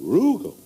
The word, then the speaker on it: Rugal: a Rugal Alonzo k Rugal Rugal rhymes with google yeah well let's have